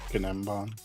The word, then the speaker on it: gnembon: The G is silent. Gnembon.